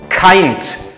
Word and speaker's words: Kind: Also, this word, kind. In German it's pronounced Kind.